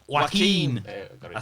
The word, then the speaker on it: Joaquin: Joaquin. Got it I wrong think. for I don't know. Joaquin. I think I said it Joaquin. much more Latino than it Joaquin. actually is. Joaquin Phoenix. Yeah, Joaquin.